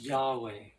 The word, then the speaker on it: Yahweh: Yochevache, pronounced Yahweh.